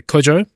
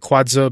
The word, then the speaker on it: Kwadzo: So I kept pronouncing it Kwadzo, but it's actually pronounced Kwadzo.